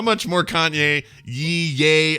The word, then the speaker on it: Ye: Is it yay? I don't know what he does. Dancing. I know he's currently. The Y-E is pronounced yay?